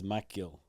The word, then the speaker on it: Magill: And we finally turned the cameras on because we got John Magill in the house from Zaprite.